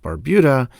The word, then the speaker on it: Barbuda: by the way locals tell me it is pronounced Barbuda the internet told me different so I pronounce